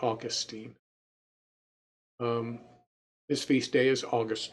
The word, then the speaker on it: Augustine: You have some people pronounce this Saint Augustine, but I've always pronounced it Augustine.